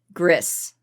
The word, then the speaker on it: Gris: Video game wise though, GRIS or GRI, depending on how you want to pronounce it.